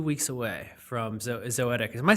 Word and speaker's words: Zoetic: So today we're 2 weeks away from Zoetic. Am I saying it right? It's Zoetic? Yeah, Zoetic. Zoetic. So we're 2 weeks away. Poetic with a Z.